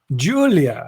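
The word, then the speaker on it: Giulia: two seconds no julia julia but it's spelled with the g that's right g g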